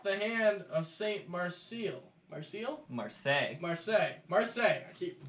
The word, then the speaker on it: Marseille: Marseille? Marseille. Marseille. Marseille. I keep Marseille. Don't pronounce the L's, add a few more vowels, and there's Saint French for Marseille.